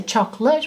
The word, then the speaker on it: chocolate: we're saying them often so chocolate will say chocolate but you've got to know choc oh late fantastic different it's not